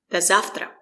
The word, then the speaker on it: До завтра: The stress is on завтра. We don't say до. O is not stressed. We pronounce it as a. Short a. Link the words. Say it like one word. До завтра. The letter V is pronounced as f.